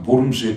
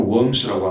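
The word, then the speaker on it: Worms: 이게 루터라는 이단자가 있다고 해가지고, 결국은 이제 칼 5세 앞에서 보름스에 끌려가가지고, 보름스, 아주 영어로 웜스라고 하는데, 독일어 발음 보름스입니다.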